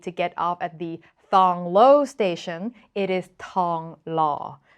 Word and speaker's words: Thong Lo: is pronounced Pawn seven if you see pH KH or th it is safe to just ignore the H pretend it is not there so if you're in